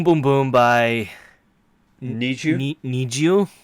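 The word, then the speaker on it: NiziU: Need You. Need You, that's the Japanese pronunciation and the Korean pronunciation.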